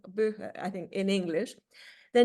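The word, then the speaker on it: Buche: from beach trees bua in German which is pronounced buha buha I think in English the name for such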